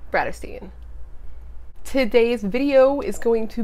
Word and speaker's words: Bratterstein: my name is my channel name is pronounced Brad Osteen today's video is going to be a fitness